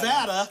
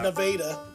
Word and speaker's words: Nevada: By the way, if you're looking that up, it's spelled Nevada. Nevada, Yeah, said by weird Missourians as Yeah. Nevada.